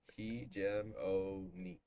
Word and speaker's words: hegemony: So Hegemony.